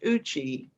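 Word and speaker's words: Eucha: e-u-c-h-a but it's a cherokee word and it's pronounced uchi and so i grew up in that area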